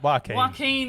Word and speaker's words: Joaquin: how do you say his name yeah why joaquin that's right yeah i'm such a i hope